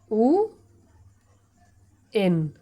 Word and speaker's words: when: দন্তন, তাহলে হয়ে যাবে উ এন। ওকে, উচ্চারণটা কী হবে? উএন, একসঙ্গে উএন, উএন। ওকে, কখনো কিন্তু বলবে না হোয়েন, আমরা কিন্তু প্রায় বলে থাকি হোয়েন।